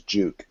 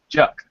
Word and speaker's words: Juck: your last name is Jud duuk but how do you say your last name Juck like truck okay there we go